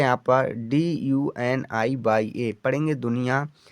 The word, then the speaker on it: दुनिया: डी से तो दा लिया हमने, यू से छोटी की मात्रा, एन से ना और आई से छोटी की मात्रा, बाई से या और ए का मतलब बड़े आ की मात्रा हमने लिख दिया दुनिया बच्चा।